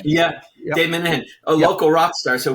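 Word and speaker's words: Minehan: Is that how he pronounces his name? Yeah, Dave Minahan, a local rock star.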